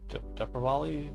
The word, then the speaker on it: Deepavali: So day before yesterday was Diwali, Deepavali, depends on where you're at, how they pronounce it, I think, or even how they spell it.